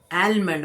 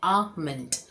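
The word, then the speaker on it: almond: एलमंड मतलब बादाम। यहाँ पे एल साइलेंट है, इसलिए एलमंड नहीं बोलेंगे, इसे हम बोलेंगे आमंड। आमंड, आ और मंड, आमंड।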